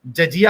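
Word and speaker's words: jizya: जी जजिया होता है जजिया प्रोनाउंस होता है जजिया सुनो सुनो सुनो सुनो सवाल सुन लो जिजिया लिखा है प्रोनाउंस होगा जजिया अरे बाप रे बाप लिखा है जिजिया और प्रोनाउंस हो गया जजिया अरे यार एक मिनट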